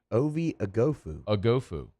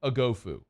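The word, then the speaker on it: Oghoufo: do it one more time one more time agofu shout out to Texas for having the pronunciation not only the guide the phonetic spelling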